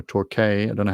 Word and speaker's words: Torquay: the victorian cities of torquay or torquay i don't know how you pronounce in australia and allen's ford that's torquey t-o-r-q-u-a-y and allen's ford